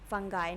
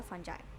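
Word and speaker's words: fungi: फंगाई नहीं होता, फंजाई, ठीक है। तो ये इन्फेक्शियस डिजीज़ है। इन्फेक्शियस डिजीज़ मतलब जो आपके पास इन्फेक्शन हो, किसी न किसी वायरस या फंजाई की तरफ से कोई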